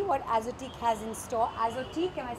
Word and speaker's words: Azotiique: Azotique, am I saying it correctly? That's right. That's the correct pronunciation.